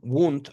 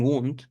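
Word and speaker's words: Wundt: La psicología, como ustedes y yo la conocemos, siendo yo un profesional de la psicología, nace, podemos decir desde Wilhem Wund o Wilhelm Wund, como gusten pronunciarlo.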